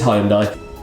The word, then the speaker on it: Hyundai: It's Hyundai.